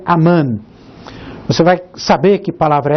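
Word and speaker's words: אמן: a esta palavra hebraic que se pronuncia aman você vai saber que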